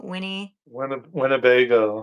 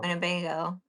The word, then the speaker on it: Winnebago: Winnebago. Winnebago.